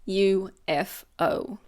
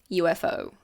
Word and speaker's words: UFO: A little usage tip: we pronounce each letter, so we don't say UFO or UFO. It's UFO. UFO.